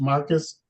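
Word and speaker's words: Marci: just spell it differently it's m a r c i but it's pronounced Marcus that's correct your honor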